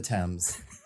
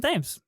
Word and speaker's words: Thames: it's Mason it's Thames. not. He's not English. It's not the Thames. It's Thames.